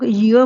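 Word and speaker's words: year: ना अ य इसको इयर नहीं बोलते। हम य बोलते हैं यो य य से शुरू होता है तो इसलिए हमने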